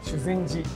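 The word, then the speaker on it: 修善寺: はい、はい、こちらのお寺、はい、実は修善寺と発音します。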